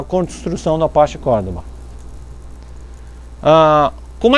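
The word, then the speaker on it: Cordova: É que é meio espanhol, né? O V se pronuncia parecido com B, Cordoba, uma coisa assim, né?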